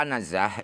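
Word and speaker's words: عنزة: Adapun kata-kata anazah itu bacanya adalah ain dibaca fathah, zai juga fathah.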